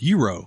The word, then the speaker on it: Gyro: a Mediterranean place, and it's spelled Gyro. Euro. Yeah, You already knew that. gyro. You knew that. I learned today that it's Euro.